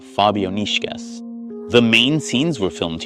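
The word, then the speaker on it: Fabijoniškės: So the correct pronunciation of this pseudo pryyot should be Fabonishkas.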